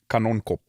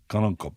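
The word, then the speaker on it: Kanonkop: we're we're fourth generation how you say it again konop konop and spell it for the listeners k a n o n k o p konop okay so we're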